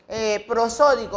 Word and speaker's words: prosódico: En las sílabas tónicas, por ejemplo, prosódico, vamos a escribir la palabra prosódico. Prosódico lleva un acento en la segunda sílaba. Entonces, esta viene siendo la sílaba acentuada que se llama sílaba tónica.